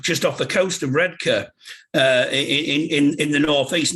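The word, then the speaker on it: Redcar: uh down at um down at redka because that's the way you pronounce it i i was born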